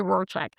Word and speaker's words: Rorschach: Let's say, just say Rorschach. So she says that the computer is a Rorschach test.